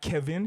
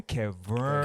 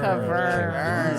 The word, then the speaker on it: Keverne: But yeah, Keverne, not Kevin, Keverne. Keverne. Silent. Yeah, the E at the end is silent.